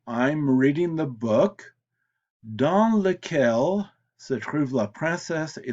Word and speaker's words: lequel: So it can be lequel, masculine singular, laquelle for feminine singular, lesquels for masculine plural, and lesquelles for feminine plural. Now, all four are pronounced the same, but all four are spelled differently.